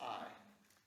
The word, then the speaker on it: Ai: Everyone remembers Jericho, the city, but what about the city of Ai? A-I. Yeah. Pronounced I.